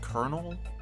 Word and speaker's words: colonel: cone oh are you special summon it it's pronounced Colonel I thought so too but then where's the